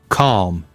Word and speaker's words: calm: Calm. L is silent.